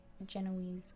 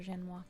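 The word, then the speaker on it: génoise: For the baked ice cream, we had to do a little bit of a more simple Genoese cake, or Genois cake, depending on how you say it.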